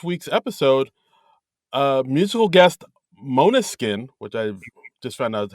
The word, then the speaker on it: Måneskin: about uh this week's episode uh musical guest Mona skin which I just found out how you pronounce it right and uh the guest ladies